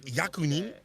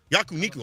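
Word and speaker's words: 焼肉: Kawano says today, I'm going to eat, how do you say, yakunin? Am I saying yakunin? After this, so I want to win. Yakuniku, I'm sorry.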